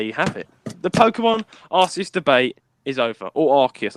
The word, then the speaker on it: Arceus: but anyway there you have it the Pokemon arus debate is over or archus I don't know how you pronounce it either archus or arus ar archus that's it how said at the start together